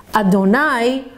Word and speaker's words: Adonai: four letter name the name havaya which is pronounced adonai although it's spelled you'd then hay and then